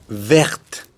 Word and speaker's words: verte: féminin avec un E, verte, parce que la lettre finale, c'est le E qui ne se prononce pas. Donc, on le prononce jusqu'au T.